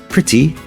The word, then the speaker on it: pretty: starter City not city but City pretty not pretty but pretty one very common mistake is to